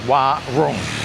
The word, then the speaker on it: warung: You don't have to roll the r. If you don't want to roll the r, just like warung. Warung, yeah? If you say warung, I mean, you're 90% of the way there.